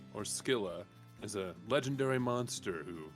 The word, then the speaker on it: Scylla: Yeah, it's misspelled with a K instead. Which in makes Greek me go mythology. Skyla because I've seen Skyla so many and times. you think Skylar, right? Yeah. Skylar. Exactly. But Scylla, or Scylla, is a legendary monster who lives